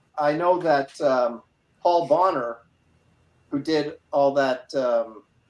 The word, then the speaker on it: Bonner: know that um Paul Bonner who did all that um it's pronounced boner yeah um he's not